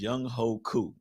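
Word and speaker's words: Younghoe Koo: The place kicker for the Atlanta Falcons, his name is Young Ho Koo. Young Ho Koo. And it's like spelled how you think it's spelled. I seen the memes like, oh, how's whatever.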